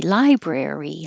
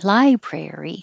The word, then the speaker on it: library: multi-syllable word we have three syllables stress on the first syllable so it's one two three library library lie is longer brare your tongue keeps curled back for the r when you say brayer and then hold it